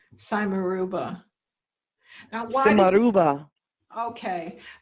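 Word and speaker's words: simarouba: do you spell it s i m a r o u b a b is in boy cymeruba now why okay say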